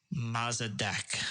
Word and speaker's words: Mossadegh: coup to get rid of Prime Minister Mohammad Mossadegh I think is how you pronounce his name most a big mess is